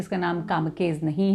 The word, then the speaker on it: Kamikaze: के ए जेड ई लेकिन यह एक जापानी शब्द है जापानीज ओरिजिन है इसका और इसका मतलब और इसको प्र किया जाता इसका उच्चारण है कामकाजी तो इसका जो अर्थ